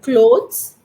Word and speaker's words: cloth: bag cloth yeah cloth bag when you say clothes uh lot of clothes it is clothes plural